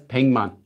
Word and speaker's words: 백만: 백, written as 백만, pronounced as 100만.